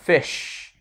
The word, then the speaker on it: fish: Fish, dùng âm i là y ngắn, i, fi, fish, fish, a fish, a fish.